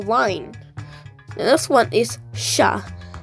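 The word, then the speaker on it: श: the next one is sha which is like the sh in shell and you start with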